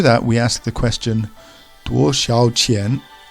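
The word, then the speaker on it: 多少钱: So the first character is 多 in the first tone. 多. Then we have 少. Again, we see the down up tone over the A. 少. And the third word is 钱 with the rising inflection.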